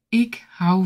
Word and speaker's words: ik hou: When you say it, most likely you're gonna drop the D sound at the end.